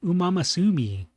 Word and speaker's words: Uma Musume: How dare he mispronounce it? Didn't he watch the video game awards? It's Uma Musume.